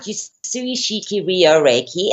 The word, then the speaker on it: Usui Shiki Ryoho Reiki: it's you pronounce it Usui Shiki Ryoho Reiki, and actually it is just another term for Western Reiki.